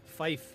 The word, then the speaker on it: Fife: Fife, yes, like Barney. Yeah, F-I-F-I. Just like F-I-F-E. Yes, just like Barney Fife, just without the Y.